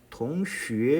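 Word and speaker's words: 同学: 자, 이 XUE라고 적은 이 발음을 좀 유의하셔야 돼요. 수에가 아니라 X 뒤에 있는 이 U자 모양은 이제 표기상 U자일 뿐이고 실제 발음에서는 U음을 나오죠. 우가 아니라 유 하는 소리를 나타낸다는 거 배웠습니다. 그걸 적용하셔야 됩니다. 그러면 동수회가 아니라 동슈회 이렇게 되죠.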